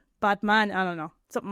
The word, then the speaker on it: Batman: So, it's actually pronounced botman. Botman. Like botman. Like he's a man who's a robot. Man. So like a as in father, father.